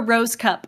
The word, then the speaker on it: Rohskopf: It's pronounced Rosecup. At least that's what my parents told me. So what? That's how you pronounce that? Yes. So that's where the Rosecup comes from.